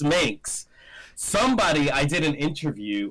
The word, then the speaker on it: Minx: let me just clarify they say the links and it's not the mix it's just minx somebody i did an